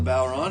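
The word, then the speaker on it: bodhrán: does teach byron lessons this is an instrument called the bauer on and we are mispronouncing it because it's an irish word and we don't speak irish but we'll get kind of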